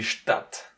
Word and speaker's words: Stadt: But in order to pronounce it, you say it like it's a double T in the end.